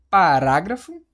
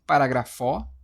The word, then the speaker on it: parágrafo: Agora você vai falar, pronunciar. Você fala parágrafo. Parágrafo. Você fala, vou até colocar aqui, né? Você fala parágrafo. Você fala parágrafo. Eu li este parágrafo. Você fala: "Eu li este último parágrafó".